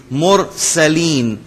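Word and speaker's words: مرسلين: underline कर ले और यहां पर मुरसलीन मुरसलीन नहीं होगा रा को थोड़ा सा हम प्रॉमिनेंट करेंगे और थोड़ा मोटा पढ़ेंगे मुरसलीन व सलामन अलल मुरसलीन व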